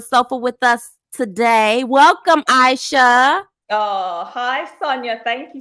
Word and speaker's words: Ishea: your name name right is it AIA AA it's Aisha Aisha I didn't even get